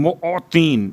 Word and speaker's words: معطین: یا خیر المعطین، معطین میم عین توئیں یہ نون معطین موتی. اب چونکہ اگر تلفظ میں غلطی ہو جائے تو بات کہیں اور پہنچ جاتی ہے.